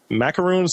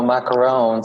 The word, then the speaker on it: macaron: some uh i don't how do you properly pronounce it macaroons and macrons how do you properly pronounce so